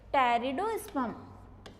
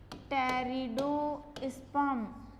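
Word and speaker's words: Pteridosperm: Plants हैं उनमें से टेरिडोस्पर्म, पी साइलेंट होता है इसमें, टेरिडोस्पर्म, एक होते हैं टेरिडोफाइटा, तो तो जो टेरिडोस्पर्म है ये तो क्या थे, न्यूनतम विकसित पादप थे।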